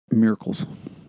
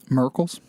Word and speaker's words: morels: a long time is they refer to morels as miracles that's the comb miracles miracles but well yeah